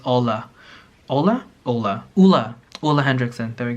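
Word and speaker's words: Ole Henriksen: add post on Instagram and I kept saying Olay Hendrickson because I thought that's how you pronounce it Orly Hendricks and apparently it's Ola Ola Ola Ola all the Hendrickson there we go can't even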